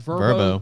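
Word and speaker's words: Vrbo: I'm going to try and pronounce this bowl game. Verbo? Yeah, you got it right. Verbo.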